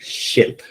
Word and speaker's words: ship: Ship. Yes, very good. Ship. Okay. I think the first time you said it, it sounded like this.